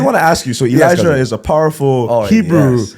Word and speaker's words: Elijah: Yeah, so the Hebrew pronunciation is Eliyahu. Beautiful. But English phonics, Elijah.